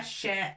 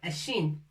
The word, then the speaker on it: شين: Si on veut parler de la lettre, on dit shin. On ne dit pas sha ou shi ou sha. On dit shin, harf shin.